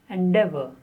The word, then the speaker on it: endeavor: The next word, 40, is endeavor. Endeavor. The stress on de. Endeavor.